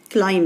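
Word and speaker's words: climb: وفي حروف سايلنت، يعني كلايم دي البي سايلنت خالص مش بتتنطق، فلو اعتمدت على الساوند بس مش هتكتب في الكلمه بي.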